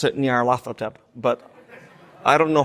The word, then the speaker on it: Nyarlathotep: I pronounce it Nyarlathotep, but I don't know how the Egyptians pronounced it.